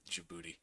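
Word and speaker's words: Djibouti: ] yeah so luxembourg's a little bit big jibuti is a little big jouti am I pronouncing it correctly no you're pronouncing it correctly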